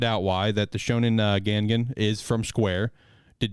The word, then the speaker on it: Gangan: a new series in shonen gengan is how you pronounce it gengan gangan okay thank you uh it'll